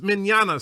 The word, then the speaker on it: Minana: It's pronounced minana, similar to lasagna.